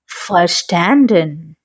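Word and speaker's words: verstanden: I have understood, एक हाबे, फिर वी को हमेशा एफ प्रोनाउंस करेंगे, फर्स्टैंडन, ठीक है?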